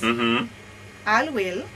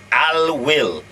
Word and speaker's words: Alwil: I hope I pronounce it right. Denny is the expert. Avira antivirus. Avira. Yes. Alwil. Alwil.